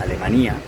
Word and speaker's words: Alemanía: Estamos en Alemania, se escribe igual que Alemania, pero se pronuncia Alemania.